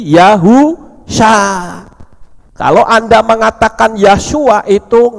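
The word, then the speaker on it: יהושע: Yod He itu membacanya Yah, itu betul. Tapi ketika belakangnya dikasih huruf waw, maka bukan lagi Yahshua. Tapi kalau Yah ada huruf waw, itu dibaca Yahu. Shin ayin sha, jadi Yahu sha.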